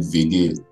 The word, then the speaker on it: WG: We call it WG. WG, like WG. All mine is German pronunciation of W. They pronounce W as V.